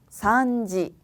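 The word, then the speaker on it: 三時: 산지, 산지. 여기 있는 발음 한 바퀴 더 쳐주셔야 되기 때문에 산지 아니고요. 산지 이렇게 해주셔야 돼요.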